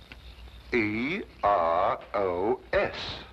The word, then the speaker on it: Eros: She added an H where there shouldn't have been one. Where? Then spell it as she spelled it, but without the H. E R O S Precisely, and here he is.